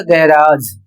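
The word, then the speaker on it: garage: अर्थात ज और स का उच्चारण आपको नहीं करना है। आपको उच्चारण करना है झ के रूप में। जैसे यहां पर शब्द दिया हुआ है। जी ए आर ए जी ई और इसे गैराज झ पढ़ा जाएगा। इसे पढ़ा जाएगा गैराज।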